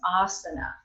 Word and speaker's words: asana: long a us that it isn't asana that would be a short asana would be a line over the second its asana right and so that's the Sanskrit pronunciation of asana so if some one